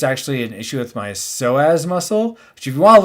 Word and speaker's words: psoas: an issue with my psoas muscle, which if you want to look it up, it's spelled PSOSA, not SOSA, which is ridiculous. What's with these P's in front of words?